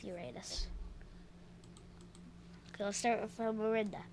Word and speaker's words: Uranus: I know some people pronounce it Uranus, but I'm going to go with Uranus.